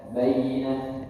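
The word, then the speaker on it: بَيِّنَة: Bayyina. Bayyina. Ya. Di sini kita bahas sedikit. Tekanan itu untuk menunjukkan bahwa di sana ada tasydid. Kalau kita baca bayyina, bayyina, bayyina, harus ditekan sedikit.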